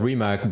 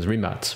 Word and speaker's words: Rimac: way i mean in in the press worldwide it's called rimac but really the croatian pronunciation rematch right exactly so how